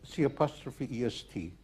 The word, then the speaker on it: C'est: Have you ever heard the expression c'est la vie? No? Mm-hmm. C'est means it is. It is spelled C''est.